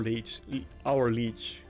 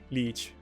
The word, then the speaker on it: league: Okay, I think this is going to be another whale that is out of our leech. I can't say that word. Leech. League. That's how I would pronounce it in Finnish.